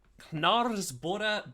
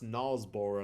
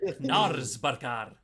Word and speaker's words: Knaresborough: Why did you pronounce Nalsborough like it was like some sort of like town in Norway? It sounds like it should be, shouldn't it? It's Even though England- it's not. It's in England.